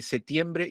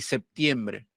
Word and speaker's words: septiembre: aquí me plantea algo la pronunciación de p se dice se relaja considerablemente en el grupo PT situado en el interior de la palabra pero solo es normal su pérdida en séptimo y septiembre o sea por más